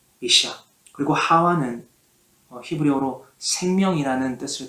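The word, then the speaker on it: אישה: 하와 이전에 아내라는 단어는 히브리어로 이샤라고 발음을 합니다. 이샤.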